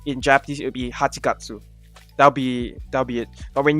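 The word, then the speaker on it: 八月: It will be Hachigatsu. That's how it's pronounced.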